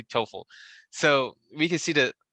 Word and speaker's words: TOEFL: the gpa score and how do you pronounce that i keep saying t-o-e-f-l score yeah you can say i know that's a different score or 12 toefl oh you can say t-o-e-f toefl yeah you can say